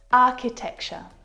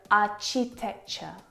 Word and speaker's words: architecture: is so often mispronounced I hear our cheap texture architecture which is incorrect the CH sound in this word is a sound like in cat architecture architect architect it's not the same CH sound that you hear in words like chocolate and cheese it's a sound and